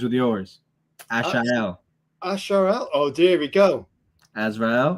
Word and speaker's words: Azrael: Pick up the Azrael sword.